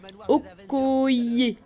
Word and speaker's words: Okoye: Et après on passe au dernier personnage qui est Okoye. Enfin bref, vous avez vu le nom, ça se prononce comme ça.